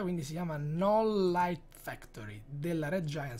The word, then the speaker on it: Knoll: soliti per fare Flex si chiama knoll lights Factory non Light Factory la k è muta non si pronuncia quindi si chiama non Light Factory della Red